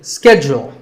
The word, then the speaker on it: schedule: and in the us in american english this is schedule the first syllable is and the second is joule schedule in british english it can be both schedule or schedule so you can choose